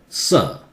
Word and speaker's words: sir: This one, in British, again, R is silent. Sir. In American, sir.